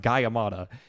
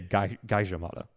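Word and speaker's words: Gajah Mada: And sure enough, the guy says that, no, we say Gaijamada. Oh, is how they say it.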